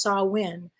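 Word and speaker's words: Samhain: Celtic Festival called called saw win if I'm pronouncing it incorrectly let me know it's spelled s-a-m-h-a-i-n but it's pronounced saw win and the Celts lived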